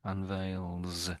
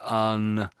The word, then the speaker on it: unveils: Unveils with an S. Sometimes I'm hearing something like unwales. It sounds like you're sort of going to say unwales. That's what I'm sort of hearing sometimes.